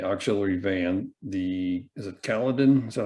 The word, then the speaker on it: Caledon: tanker and the auxiliary van the is it caledon is that how you pronounce that caledon yeah both of those fire departments were quite